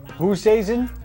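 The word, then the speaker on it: Oosthuizen: extra holes there against the South African Who season yes that's how you pronounce it and uh it was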